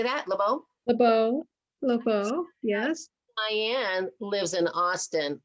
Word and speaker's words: LeBeau: LeBeau, yes.